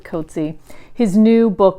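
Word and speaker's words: Coetzee: JM KY COA koty I've recently saw that he pronounces it koty his new book called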